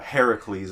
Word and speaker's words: Heracles: pronounce it right and his name is actually not herc in original Greek pronunciation Hercules Hercules night Professor but uh Heracles is his actual original pronunciation and that is how